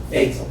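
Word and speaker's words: Baitsel: Basel. Spell it, please.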